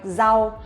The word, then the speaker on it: rau: Or for example, like rau, we also pronounce like z, rau, vegetables.